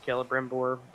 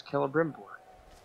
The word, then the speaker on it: Celebrimbor: Also, game taught me how to pronounce Celebrimbor. Well, Pronouncing it with a K, I don't know if I like that.